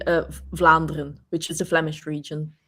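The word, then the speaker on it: Vlaanderen: the balloon region and then we say uh flandren which is a Flemish region the Flemish right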